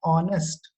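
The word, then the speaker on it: honest: आप एक बार ऑनेस्ट को प्रोनाउंस करके देखिए, हम उसे बोलते कैसे हैं? ऑनेस्ट, ओ क्या है? वोवल है, इसलिए एन ऑनेस्ट लेडी एक करेक्ट फॉर्म है।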